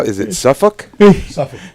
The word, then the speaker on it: Suffolk: Suffolk. You don't say the L, right? No L. Okay. All right. Yeah, no L. Only wins around here. Yeah. Suffolk.